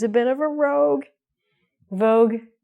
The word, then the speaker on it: Vogue: So, we don't say, Madonna didn't say Vogue-y, Vogue-y, Vogue-y, Vogue-y, Vogue-y. She said Vogue, like the magazine.